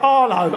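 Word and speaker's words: Harlow: South End Tire Arlo Arlo Bob and Sharon from Arlo anyone who pronounces the H gets knocked out pretty sharpish maybe it's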